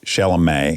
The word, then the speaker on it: Chalamet: Yeah, there's something really powerful about Timothy Chalamet. Yeah. Am I saying it right? Chalamet.